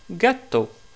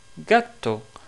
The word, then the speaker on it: gatto: Par exemple, pour ce mot-là, justement, qu'est-ce qui veut dire un chat, en italien, on le prononce gatto, gatto.